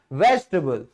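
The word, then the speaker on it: vegetable: टेबल ही बोला जाएगा लेकिन जब इस टेबल शब्द को हम सब्जी वाला शब्द बनाते हैं तो ये टेबल नहीं रहता। ये टबल रहता है।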